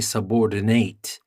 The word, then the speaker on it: subordinate: subordinate and as a verb we stress the last part and we say subordinate so here let's start with subordinate as a noun we